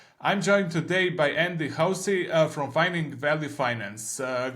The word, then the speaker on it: Hoese: I pronounced it right is it hosy or Hoy or how do you pronounce your last name uh the first pronunciation hosy hosy is one sorry sorry for that